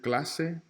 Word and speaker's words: clase: Clase is the only word here that should be underlined out of these 3 because Garcia and doce have that S as in Sally sound. They have the soft C. Clase, however, has the hard C.